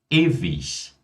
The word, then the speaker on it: ewig: IG no final de palavras, por mais que nós tenhamos o G ali no final, mas IG é pronunciado como ich. Então, nesse caso, nós temos Ludwig, ewig, fertig, richtig.